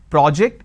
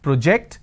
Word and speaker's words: project: an aw sound when i have project i have an o sound but the bigger aspect which you need to understand is the stress on which syllable like project and project there are other examples